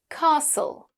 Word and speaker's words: castle: Words ending in the letters s t l e like "castle" Yes. and "whistle". "Whistle". They end with "sul".